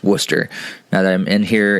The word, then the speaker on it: Worcester: church in worcester massachusetts that's not worchester it's worcester now that i'm in